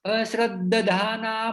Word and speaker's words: अश्रद्धाना: अश्रद्ध, यहाँ पे द जो है वो द को द ज्वाइन किया हुआ है, द और द, तो द दोनों ज्वाइन होके एकत्रित उच्चारण होता है। अश्रद्धाना पुरुषाः अश्रद्धाना पुरुषा धर्मस्यास्य